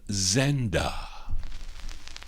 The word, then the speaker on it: Zenda: The song is called Zenda, but he doesn't pronounce it that way. Listen closely. This is for Emnon. The Keynotes on Apollo. It's called Zenda. Cinder, my darling.